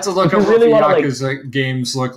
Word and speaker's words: Yakuza: The whole series as a whole, the Yakuza can't pronounce it.